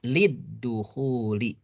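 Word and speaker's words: لِلدُّخُولِ: Jadi lid-dukhuli begitu. Nah, jadi lamnya jadi dua nih. Lam pertama lamnya li, lam kedua lamnya alif lam. Alifnya hilang ya, lid-dukhuli. Dibacanya lid-dukhuli karena alif lam syamsiyah ini ad-dukhul ini kan alif lam syamsiyah.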